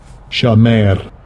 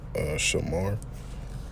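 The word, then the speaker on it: שמר: same thing, but it's pretty much pronounced Shamar, and how you spell it, is I believe SHAMAR, and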